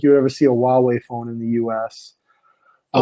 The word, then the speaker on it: Huawei: Oh, Huawei, Chinese manufacturer. Oh, okay. Yeah. That starts with a H. Yeah, it starts with an H, but they pronounce it Huawei.